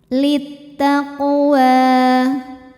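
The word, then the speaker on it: لِلتَّقْوَىٰ: hukum Qalqalah Sugra karena huruf Qalqalah qof sukunnya asli dan ada di tengah bacaan maka dibaca dipantulkan dengan pantulan yang kecil littaqwa wa hukumnya Mad Thobi'i muqaddar karena huruf wau berbaris fathah panjang maka cara bacanya dipantulkan wwya ini dengan dipanjangkan Maksudnya ya dipanjangkan sepanjang dua harakat laqwa di atasnya ada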